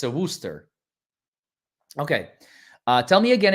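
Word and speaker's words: Worcester: my vehicle a Wooster it's supposed to be Wooster it said I mean you unless I'm blind that says Worchester is that you pronounce it Worster okay I'm I'm I'm the idiot in the room then okay Wooster we kind of skipped five letters there folks it's a it's a silent r c and e it's a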